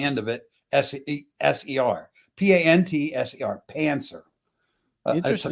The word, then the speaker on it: pantser: Pancer.